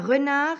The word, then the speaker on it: renard: était muet au masculin un renard va donner une renarde cette fois au féminin j'entends le des qui était muet au masculin il existe une autre